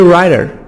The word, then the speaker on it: writer: Mini writer, mini writer. Writer, T soft D between two vowels. The T here, we pronounce it D. Fast D or soft D.